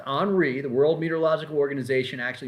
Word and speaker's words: Henri: now let's talk about tropical storm on re henry but it's actually pronounced on re the world meteorological organization actually makes the names